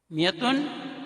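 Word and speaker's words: مائة: میں استعمال ہوا ہے۔ ہم میعاتن کا الف تلفظ نہیں کرتے، میعاتن 100 اور الفن 1000،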